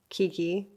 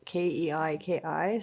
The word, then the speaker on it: Keiki: People tend to think that it's Kiki, and it's not. It's Keiki, like cake, and it's spelled Keiki, so that makes it even more confusing for people.